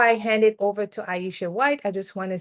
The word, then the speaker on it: Iesha: thank you Ellen so yes my name is Aisha um and if you're unsure on how to spell it or how to pronounce it my name